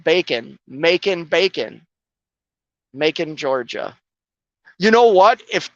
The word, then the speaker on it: Macon: was that that simple Mackin ER Macon Georgia I have to remember that now Macon it's like bacon making bacon Macon Georgia you know what